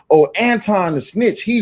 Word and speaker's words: Anton: I don't I gota I gotta Yeah, y'all do know his name pronounced Anton, not Antoine, right?